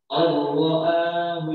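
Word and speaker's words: الله: Allahu istaghna. Allahu istaghna. Inna ila rabbika ruj'a. Ara'aital ladzi yanha. Jadi bacanya tampilnya gini. Allahu istaghna. Betul kan? Nah, baca Allah itu seperti tasbih. Ditekan. Allah gimana?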